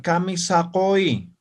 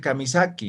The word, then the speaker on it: Kamisaki: Ahora, la Q tiene sonido propio, ¿no ve? Entonces, si fuera así, ya va a significar Kamisakoi, ¿no ve? Entonces, yo quiero decir Kamisaki, entonces, no va esta U y esto así. Kamisaki, ¿no? ¿Cómo estás? ¿Notan la diferencia?